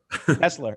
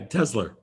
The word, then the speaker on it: Tesla: r but every to every New Yorker it's a Tesla Tesla it's a that isn't how you say it Tesla yeah tesler tesler it's like a Twizzler twizler coffee I I